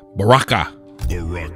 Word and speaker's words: Baraka: Baraka.